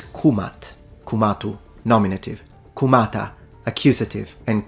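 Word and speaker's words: Kemet: to be precise then the correct and most likely pronunciation in ancient Egyptian specifically in classical Egyptian is kumat kumatu nominative kumata accusative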